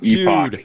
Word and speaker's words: Epoch: Is Epoch? Yeah, Epoch. Epoch Outdoors. Dude, I get that question so many times. People are um they say Epic Outdoors, and that's totally fine.